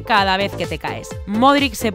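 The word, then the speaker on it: Modrić: sino en levantarse cada vez que te caes modric se pronuncia así después de que en una semana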